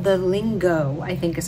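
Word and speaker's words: Lingot: in is called the lingo I think is how you pronounce it l-i-n-g-o-t but I think I think the t is silent and it this bag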